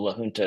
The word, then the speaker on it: La Junta: Well, La Junta is how you pronounce it in Spanish. Maybe they say it wrong in Colorado, but I saw a